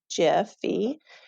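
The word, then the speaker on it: GIPHY: h y and yes i say jiffy because that is the correct way to say it and then i just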